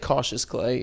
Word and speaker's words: Cautious Clay: Yeah, it's like cautious clay.